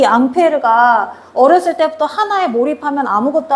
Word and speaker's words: 앙페르: 이 암페어의 원래 이름은 앙페르야. 앙페르.